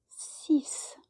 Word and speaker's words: six: pronounced not quite it's cease it's almost as if it was a c or an s instead of the x but number seven go